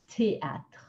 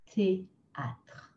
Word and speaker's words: théâtre: Théâtre. Théâtre. So T-H-E, just T. It's got accent aigu. So make sure you say that nice E sound. Théâtre.